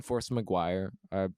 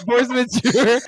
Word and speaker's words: Force Majeure: I felt like, just like, because I haven't seen Force Maguire, however you say it. I know that's not how you pronounce it. Force Majeure.